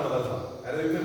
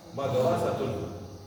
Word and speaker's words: मदरसा: कैसे करेंगे अपन उसको अपन बोलते हैं मदरसा मददसा मदरसा है मदरसा ठीक है फिर से